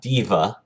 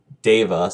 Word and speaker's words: Deva: And in 4th edition, it's known as that race is known as a Deva, not Diva. Deva, spelled D-E-V-A.